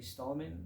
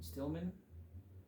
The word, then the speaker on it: Stillman: forgot the Creator uh Jamie stalman Stillman I think I got his name wrong in the last video Stillman Jamie Stillman his